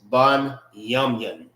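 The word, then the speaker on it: בנימין: How you say Benjamin in the Hebrew is ban yamun.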